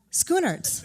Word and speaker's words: Schoenaerts: come on out i work so hard to get your name right i've heard it pronounced so many ways and they're all wrong so do it again schooners that's it i'm so close thank you so happy